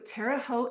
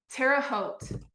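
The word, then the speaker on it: Terre Haute: So I moved to Terote, Indiana. It's an interesting place to be. Where? Terraote.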